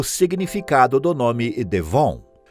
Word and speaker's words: von: ele se torna Fritz Von Schmitz e como o v Alemão tem o som de f a partícula de nobreza é pronunciada como f e o sobrenome para